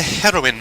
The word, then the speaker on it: heroine: It is a heroine mask, to be precise. Sunwitch Esper Ito is a pretty witch girl. See? A heroine. Or heroine. No, it's pronounced heroin, isn't it? As in the drug.